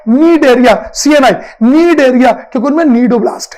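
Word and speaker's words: cnidoblast: नीडोब्लास्ट, CNI, सी silent है, सुनाई नहीं देगा, दिखाई जरूर देगा, CNI, नीडोब्लास्ट।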